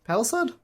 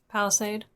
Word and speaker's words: palisade: Paliside. Palisade. Palisade is how that's pronounced.